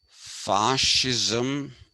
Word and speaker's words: fascism: And this has to be pronounced fascism because it comes from the word fasce, which is making a bundle.